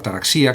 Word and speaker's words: ataraxia: denominar la serenidad estoica, la ataraxia, la imperturbabilidad o la taraxía, que se puede pronunciar así también.